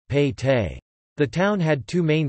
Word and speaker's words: pete: Within the fort, the town was divided into smaller divisions, each called a Pete, Kannada pronunciation, Pete.